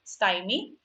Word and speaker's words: stymie: That's how it is pronounced, stymie.